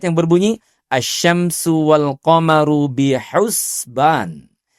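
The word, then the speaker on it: بِحُسْبَانٍ: Ada ayat yang berbunyi, "Asyamsu wal qamaru biusban." itu diucapkan dengan huruf ha bukan bihusban.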